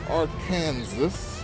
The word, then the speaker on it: Arkansas: It's a little chilly this morning, but we are in downtown Little Rock, Arkansas. Arkansas. Spell it.